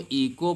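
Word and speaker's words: echo: इसी प्रकार से देखो यहाँ पे ईचो लिखा है। अब ईचो नहीं पढ़ेंगे, इसको इको पढ़ेंगे, क्योंकि हमने बताया है कि ओ के पहले अगर एच आएगा तो एच साइलेंट हो जाएगा।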